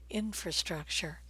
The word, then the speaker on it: infrastructure: And the word infrastructure is stressed on the first syllable here, infrastructure. A lot of you might be saying infrastructure, but don't stress struck, stress in, infrastructure.